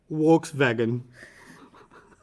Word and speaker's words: Volkswagen: they pronounce this car Volkswagen volkswagan no they pronounce the v as a w okay and the W as a wi so they say WS vagen I feel like and